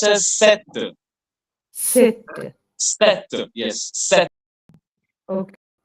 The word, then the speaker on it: cette: Madam, it is pronounced as set.